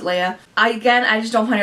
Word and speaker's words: Leah: uh unnecessary number seven is Leah uh or lay or whatever you want to call her Lee um I call her I pronounce it Leia again I just don't